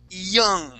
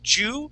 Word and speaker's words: you: So instead of saying Jew, we're going to say E and an oo sound.